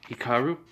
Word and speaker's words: Hikaru: Yeah, so the Beyblade fight between Haku, raw name, pronunciation, Hikaru, with Kenta does happen.